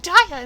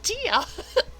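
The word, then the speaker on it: Diya: even more like it if you say your name wrong like daiya instead of tia i'm not saying my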